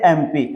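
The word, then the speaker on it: MP: तो देखिए एमपी जो है ये भले कंसोनेंट है लेकिन इसका उच्चारण कीजिए हिंदी में एम पी।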